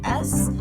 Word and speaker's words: Suppes: Like I said, you can search my name, Suppes, Suppes, spelled like supper, but with an S instead of an R, and not pronounced the same for whatever reason.